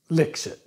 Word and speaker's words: Lixit: lixit yes it's called licks it l-i-x-i-t pronounced licks it yeah it is all